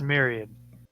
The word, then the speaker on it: myriad: It's pronounced myriad. Yeah, a myriad.